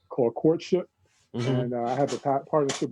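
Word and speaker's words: Quartship: That Instagram is Courtship Show, and Courtship is spelled with a Q-U-A-R, like from the quarantine. So it's like Q-U-A-R-T-S-H-I-P, Courtship.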